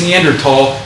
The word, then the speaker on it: Neanderthal: a step and it's neanderthal please don't pronounce the H it's a German word right like it's in